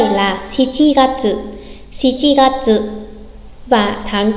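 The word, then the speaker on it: 七月: Tháng 7 người Nhật cũng sẽ nói là Shichi Gatsu thay vì Nana Gatsu. Nhắc lại, tháng 7 là Shichi Gatsu.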